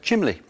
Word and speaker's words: chimney: It put waistcoat back in favour instead of waistcoat, for example, and put chimney back where many people prefer to say chimley.